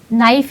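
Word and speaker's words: knife: फॉर an example, नाइफ एक शब्द है, नाइफ की जो स्पेलिंग शुरू होती है के से शुरू होती है, जबकि अगर आप उसको प्रोनाउंस करेंगे तो नाइफ तो एन से शुरू होनी चाहिए।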